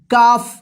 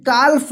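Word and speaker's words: calf: देखिए यहाँ पे सी ए एल एफ, इसको क्या पढ़ेंगे काफ, इसको काल्फ मत पढ़िएगा, ठीक है ना, मत पढ़िएगा।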